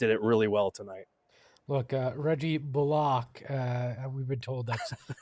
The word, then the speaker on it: Bullock: Look, Reggie Bullock, we've been told that's how we're supposed to pronounce it.